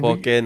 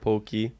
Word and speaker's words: poke: Yes, And poke, not pokey.